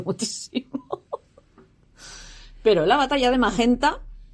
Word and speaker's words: Magenta: Pero la batalla de Magenta, o Magenta, si pronunciamos a la italiana, se peleó el 4